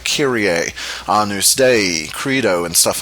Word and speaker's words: Credo: All right, Credo is pronounced Credo.